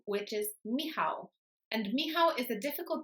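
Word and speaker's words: Michał: about Pavo but it's because of the CH in the middle which often English speakers pronounce as C so they might say mik it's not pronounced like that at all imagine that the C is not there at all so whenever you've got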